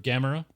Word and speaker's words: Gamera: So I've got this dope picture of Gamera, who is awesome.